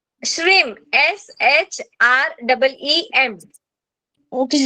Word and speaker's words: श्रीम: 19 श्लोक का बीजाक्षर है श्रीम बीजाक्षर। श्रीम, जो हम लोग श्री लिखते हैं ना हर वक्त पहले, हाँ श्री, उसके ऊपर अनुस्वार देना है, उसके ऊपर टिम्ब देना है, ठीक है।